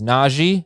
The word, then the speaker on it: Najee: It is Najee.